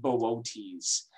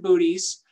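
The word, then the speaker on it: Boötes: and arcturus is in this constellation it's called bootes yes or you might pronounce it booties um which is a lot of fun to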